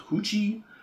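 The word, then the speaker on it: Huchi: this woman, this old woman called Hoochi. Not spelled like that. It's H U C H I.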